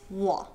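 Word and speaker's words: 我: That's why the Chinese word for me, or I, is wo. Wo. Not wo, but wo. Even though it's spelled W-O in pinyin.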